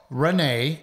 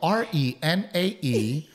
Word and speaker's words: Renae: I am Renae, and that is spelled R-E-N-A-E with an A. I am Renae. With an A, because that's easy to follow.